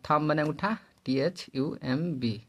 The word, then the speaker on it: thumb: जब किसी थ्योरी पे चलते हैं आप, जब किसी शब्द में बी के बाद एम हो तो बी साइलेंट हो जाता है। जैसे बी बाद एम आता है तो बी साइलेंट हो जाता है। जैसे डम DUMB, कलम CLIMB, और थम बने अंगूठा THUMB, और कम बने कंधा CUMB।